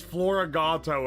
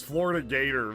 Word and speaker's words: Floragato: Oh yeah, I did pronounce floragato as Florida gator for for like a while. I forgot about that one. That's probably the most wrong.